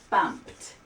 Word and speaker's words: bumped: Bumped sounds like a T at the end.